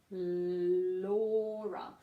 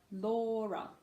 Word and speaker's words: Laura: sure you get the Laura now wha well he's long Val Laura Laura and you can hear the stresses on more MORE Laura okay Chloe now this can